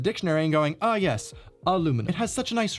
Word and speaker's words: aluminum: today still arguing about what's the correct pronunciation when really i think the og is pretty much correct aluminum let's bring that back